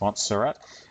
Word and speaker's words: Montserrat: whoops primal food okay this is using a font called mots pronounced montserrat you might just be happy